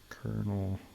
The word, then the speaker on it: colonel: Especially because it's when you pronounce it, it sounds like it has an R somewhere, but it doesn't.